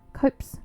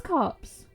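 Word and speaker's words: copse: Copes cops copes. I think it's copes. Let me look that up. Copes. No, that's vopes. Hang on. Cops pronounce cops. It is cops.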